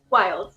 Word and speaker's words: Wildes: Your host, MrDeadman, and joining us here is Wildes. It's Wild or Wilds? Wilds, yeah.